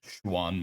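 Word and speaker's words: Xuan: the juan juan sword it spelled x-u-a-n and the proper pronunciation is schwann one um i'm not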